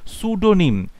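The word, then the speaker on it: pseudonym: লেখক যখন কোন কাল্পনিক চরিত্র ধারণ করছে কাল্পনিক নাম নিচ্ছে তখন তাকে বলা হয় তাকে সুডোনিম। তখন তাকে বলে সুডোনিম। এখানে পি উচ্চারণটা কিন্তু পি সাউন্ডটা সাইলেন্ট থাকবে।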